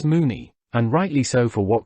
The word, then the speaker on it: Mona: However, in this Welsh lady's case Mona was, I believe, pronounced as Moony.